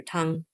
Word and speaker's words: Tang: Um so yeah Han dynasty meaning some destiny Tang dynasty or Tang if you're pronouncing more correctly Tong dynasty uh those are just of course dynasties of country China.